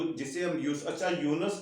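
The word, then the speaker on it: Yunus: वो इस तरह से है कि ये यूनुस नहीं है, ये लफ्ज है यूनुस जी। ये लफ्ज है यूनुस। और अगला लफ्ज जो है जिसे हम अच्छा, यूनुस को हम अंग्रेजी में इस तरह लिखते हैं, है ना?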